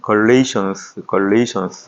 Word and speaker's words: Galatians: 영어로 볼 때는 Galatians 이렇게 발음을 하고요.